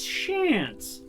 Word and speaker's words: Chance: pronunciation is Shan's is the name is the same as shans like chance but with the sh at the start oh now we're okay